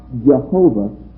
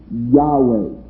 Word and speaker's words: Yahweh: Moses, the burning bush, is not Jehovah, but Yahweh. There is no J in Hebrew.